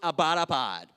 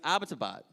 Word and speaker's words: Abbottabad: it she was like yeah and it's not pronounced about a pod I was like why do you say it she was like it's Abbottabad I was like okay that's why we couldn't